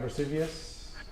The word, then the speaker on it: Vesuvius: it properly, with the mountain in the background, Vesuvius.